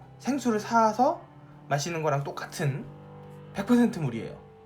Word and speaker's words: 사: 지금 그림에서 보시는 것처럼 옆으로 표시되어 있거나 오른쪽에는 사시미 없죠 예 오 칭 이 사진이에요 그 침을